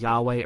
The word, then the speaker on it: Yahweh: We sometimes pronounce it as Yahweh or Jehovah.